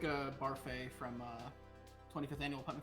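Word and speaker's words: Barfée: cartoon voice of a child sounds like a barfey from uh 25th annual putman county spelling bee it's pronounced buffet there's an accent edgy you're not the boss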